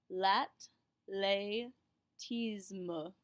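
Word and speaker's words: athlétisme: a regular t and remember that an e with the accented goo going up makes an a sound la tismo ferro de la tismo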